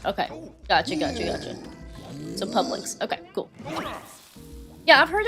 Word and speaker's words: Publix: Cuz I technically work for a company called like Publix and I used to think it was called Publicist, but people pronounce it Publix and I'm like, "Oh, whoops."